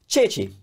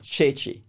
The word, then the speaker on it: ceci: chickpeas or garbanzo beans chechi Chichi you know think of the name Cecile that's how you spell it in English if you instinct is change it to chew and you you're distorted chechi chechi and then the classic